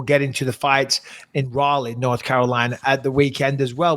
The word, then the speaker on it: Raleigh: I flew from North Carolina, Raleigh, as you guys say, but Raleigh, Sir Walter Raleigh is how you say it.